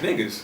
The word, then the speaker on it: Negus: I'm like, it's pronounced niggas.